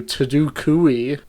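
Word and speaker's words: TadukooUI: Tadukoo View is being renamed to Tadukoo, spelled like Taduk and then UI. Is like a pun on GUI, GUI.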